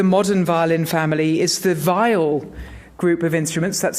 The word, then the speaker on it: viol: predecessor to the modern violin family is the vile group of instruments that's spelled v-i-o-l by the way it released mostly